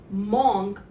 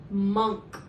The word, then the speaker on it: monk: Coming to my 18th word, many a times this word is pronounced as monk by people. It is not pronounced as monk, rather it should be pronounced as monk, where the letter O actually represents the sound A, and hence it becomes monk.